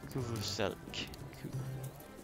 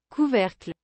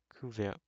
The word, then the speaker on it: couvercle: Kuvuselk. No. How do you pronounce that? Let me search that up. How do you even pronounce that? Couvercle. Couvercle. Okay, so that's a lid.